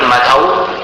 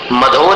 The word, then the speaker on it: मधौ: यत्कौकिलः विसर्ग, किल मधौ, मधो नहीं बोलना, मधौ।